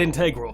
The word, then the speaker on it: integral: Yeah, I pronounced it integral. It's acceptable. And if you've got a problem with that, I will fight you in the comment section, you cowards!